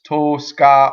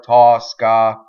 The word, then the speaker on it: Tosca: title of the opera that first o can be either open or closed the the closed one is the now the preferred pronunciation but if you are especially romans will say that it's open so it doesn't really matter either way it's to sky or Tosca you however whatever strikes your fancy okay so let's go